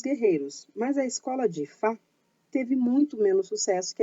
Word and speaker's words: Aoife: Hoje a gente vai falar sobre Ifá, a bela rainha da guerra. Apesar de se escrever Aoife, se diz Ifá.